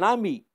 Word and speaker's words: amie: On ne prononce pas le E à la fin du mot ami. J'écris au masculin. Nora est une amie.